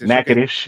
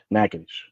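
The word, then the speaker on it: Natchitoches: it's called nages nages nades yeah nages people say NAD and all but it's nadish so he's literally from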